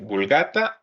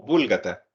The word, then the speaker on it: Vulgata: ¿Han escuchado hablar de la famosa, bueno, aquí tienen dos pronunciaciones, Vulgata o Búlgata? Yo en lo personal le digo Vulgata.